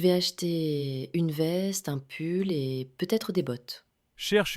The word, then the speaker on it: pull: On a répète avec moi une veste t attention veste un pull. This is not pou. This is pull u d bot.